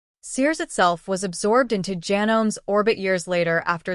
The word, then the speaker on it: Janome: That's pronounced Janome in case you've never heard it out loud, starting around 1965